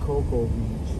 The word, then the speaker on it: Cocoa Beach: So how is it Coco Beach when it's spelled C-O-C-O-A? That's the spelling of Cocoa.